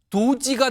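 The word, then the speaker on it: DOGE: 앞자 글자를 따 보면요 d o g e 걸 약자로 딱 놓고 발음하면 도지가 됩니다 도지 근데 이거 앞서서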